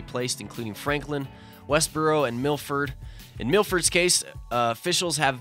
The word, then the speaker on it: Milford: Milford there you go like you say MILF and you say ID Milford exactly Milford Mass while the